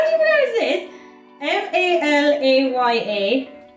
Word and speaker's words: Malaya: refine and it's called how the do you pronounce that how do you know is this m-a-l-a-y-a malaya yeah it's called malaya makeup is finito